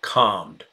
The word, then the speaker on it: calm: oh and what about calmed can you say calmed oh and Marla says it yes but it has optional yeah some people say calm without the L Sound others say calm okay